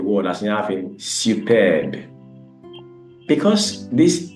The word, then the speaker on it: superbe: For example, recommence, this word there, recommence, the E there is pronounced, but for superbe, it's at the end of the word, is not pronounced.